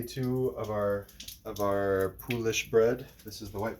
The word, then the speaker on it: poolish: which by the way we looked up pronunciation in French it's pulish in English people just say poish so we're good anyway